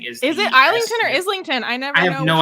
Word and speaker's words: Islington: in neverware like there's the angel of Islington and like that's how it's pronounced the angel of Islington maybe Neil Gaiman says